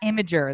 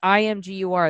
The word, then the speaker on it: Imgur: That is not Imager. That's IMGUR. That's Imgur. No, I know, but it's just pronounced.